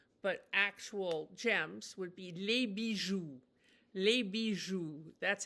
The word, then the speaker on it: les bijoux: And the way you talk about not costume jewelry, but actual gems would be les bijoux. Les bijoux. That's how you pronounce the word for jewels.